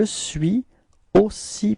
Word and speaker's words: suis aussi: So you can see that between suis and aussi, we've got this liaison, suis aussi. Okay, so let's repeat it together. Je suis aussi patient que toi.